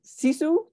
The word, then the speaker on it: sisu: finish now can you explain what is it sisu is that how you pronounce it yes it means uh well tell